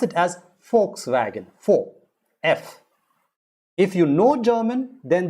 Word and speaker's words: Volkswagen: g e n now v in german is usually pronounced as f they don't pronounce v volkswagen they pronounce it as volkswagen for f if you know german